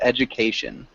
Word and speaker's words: education: good um and then when we pronounce education it's like a ju sound education perfect that sounded much